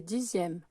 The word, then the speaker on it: dixième: s'appelle le chiffre des dixièmes. Donc il faut faire attention, dixième, ça s'écrit qu'un X, contrairement à dizaine qui s'écrit qu'un Z.